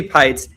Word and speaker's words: Peitz: And for those of you who are listening or watching this and don't know who I am, I'm Pites. My last name rhymes with lights.